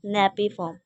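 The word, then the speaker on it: napiform: Nappy napkin नहीं नेपीफॉर्म nappy फॉर्म।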